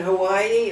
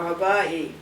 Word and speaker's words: Hawaii: asked the native and do you pronounce it Hawaii or Havi and the native said Havi and the tourist said